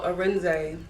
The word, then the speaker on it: Arinze: Let me know how to pronounce it. So Arinze.